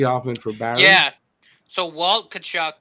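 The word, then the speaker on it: Tkachuk: trades because he often forbade yeah so walt cachuck it's t k a c z uk there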